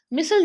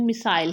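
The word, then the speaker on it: missile: मिसल जो है ये एक्चुअली में ये अमेरिकन प्रोनाउंसिएशन है, इसकी ब्रिटिश प्रोनाउंसिएशन मिसाइल है, तो आपको जो प्रोनाउंसिएशन ठीक लगती है वो आप यहाँ पे रख सकते हैं मिसल की।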